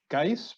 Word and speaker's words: Guise: agenda to ms karen i'm going to say guys but i've probably got that wrong from red lake senior high um as guys welcome to the committee please correct the chair in the pronunciation of your name if need be and uh share your testimony okay well thank you and you actually got my last name correct um boujou karen indignikas